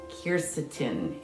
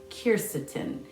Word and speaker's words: quercetin: looking for stuff that has kirsatin in it and that's what the q q u e r c i t i n i believe that's how it's spelled kircetin and some of the